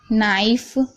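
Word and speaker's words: knife: ठीक है, याद रखिएगा कभी भी एन से पहले के आता है तो के साइलेंट है। जैसे कि नो, नॉट, नाइफ, नॉक।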